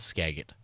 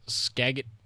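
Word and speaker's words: Skagit: I think it's Skagget uh river rose just above its record Thursday night in Mount Vernon. According to National Water uh prediction services earlier Thursday, the Skagget just missed its previous record as flooding Scadget.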